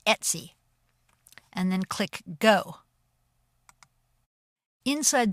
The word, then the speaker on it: etc: And we want to go to the folder /etc, which is pronounced Etsy, and then click Go.